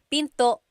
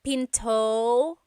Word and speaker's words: pinto: is PTO and remember don't forget the glot stop don't forget to stop the sound at the end that's called a glottal stop Pinto Pinto it's not Pinto it's Pinto stop it